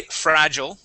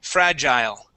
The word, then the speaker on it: fragile: with this word here there's two ways to pronounce it okay I say fragile okay others may say fragile okay I've heard both and uh both are accepted so fragile and fragile